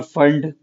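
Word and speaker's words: Pfund: P silent है बेटा यहां पर, फंड।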